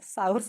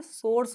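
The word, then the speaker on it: source: गड़बड़ हुई उसने बोला इडियट सास नहीं होता ये सोर्स होता है तब मुझे समझ में आया कि प्रोनंसिएशन सबसे इंपॉर्टेंट लेसन है लैंग्वेज का।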